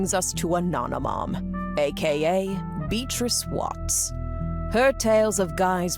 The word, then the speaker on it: Beatrice: That finally brings us to Ananom aka Beatrice Watts. Her tales of guys parties and payoffs were true. Oh, I don't like it when you don't pronounce the A in Beatatrice.